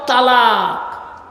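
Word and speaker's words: التلاق: আল্লাহ বলছেন লিউনজিরা ইয়াউমাত তালাক। ওখানে তৈ অক্ষরটা নেই বাবা, ওখানে তে অক্ষরটি আছে।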